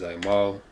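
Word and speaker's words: עָמֵל: The correct pronunciation is Aimal.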